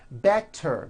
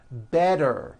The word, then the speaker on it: better: So if a letter T falls between two vowel sounds, which are voiced, so if it falls in the middle of vowels, then the T is pronounced as a D and the whole word is voiced.